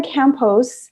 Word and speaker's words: Campos: Now, do you say the S on the last? That's such a stupid question. Yeah, I never yeah. asked You about like your in last name. Spanish, you pronounce every single letter.